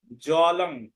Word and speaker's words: জলং: যেমন ফলং, যদি শব্দের মধ্যে থাকে ফলং তাহলে উচ্চারণ হবে ফলম। জলং এর উচ্চারণ হবে জলম। ফলং হবে না, ফলম। জলং হবে না, জলম।